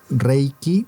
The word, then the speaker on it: Reiki: eh, porque la palabra reiky como tal es de origen japonés, entonces tenemos la palabra, tenemos reiky, pero tiene dos sílabas. Entonces tenemos rey una y qui, entonces rey se traduce literalmente como universal y energía, ¿ya?